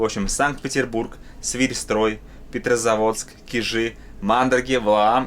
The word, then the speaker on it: Кижи: Неправильно говорить Кижи, правильно говорить Кижи.